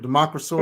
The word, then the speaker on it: Democrisaurus: Democrisaurus. That's the right pronunciation? Democrisaurus? Yeah, that's right.